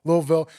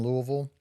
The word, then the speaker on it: Louisville: to Columbus you're from Kentucky right Lou Louisville Louisville how do you say Louisville Louisville Louisville louville so talk about your early Beginnings in radio